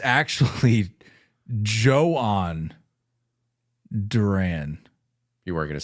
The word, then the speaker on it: Jhoan: I thought it was I thought it was Johan Duran I think a lot of people did